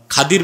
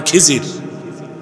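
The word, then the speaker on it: খিদির: তুমি এখনো পাও নাই খাদির বুঝেন নাই আপনারা বলেন খিজির কিন্তু নামটা হচ্ছে কি নাম খদির আমরা বাংলায় বলতে বলি খিজির এটা ভুল উচ্চারণ শুদ্ধ উচ্চারণ হচ্ছে বলি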